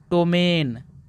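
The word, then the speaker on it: ptomaine: सारे लोग इसको नहीं पढ़ पाएंगे यहां पी साइलेंट है दोस्तों इसको पढ़ते हैं टोमेन क्या पढ़ते हैं दोस्तों टोमेन दोस्तों अब बढ़ते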